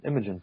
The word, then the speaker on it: Imogen: Yeah, Imogen.